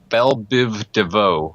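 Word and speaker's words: Biv DeVoe: I can't pronounce it I can't pronounce it pronounce that for me what does that say Biv Devo yep exact you did actually Deo Biv Devo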